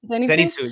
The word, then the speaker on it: Zenitsu: Zenitsu.